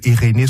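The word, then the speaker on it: Eirene: pour les auditeurs auditrice je dis eréné ça s'écrit e i r e n e eréné Suisse eréné c'est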